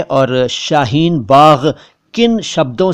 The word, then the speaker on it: शाहीन बाग: इसके अलावा कुछ लोग शाहीन बाग कहते हैं, लेकिन दरअसल ये सारे उच्चारण गलत हैं। जी हाँ, ये सारे उच्चारण गलत हैं। सही उच्चारण क्या है और शाहीन बाग किन शब्दों से मिलकर